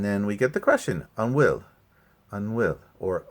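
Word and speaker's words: an bhfuil: And then we get the question, unwill, or a will. It's just how you pronounce it.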